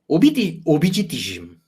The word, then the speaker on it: Abhijitism: How do you pronounce it in Bengali? Abhijitism. Obhijitism. Obhijitism. Okay, like Marxism.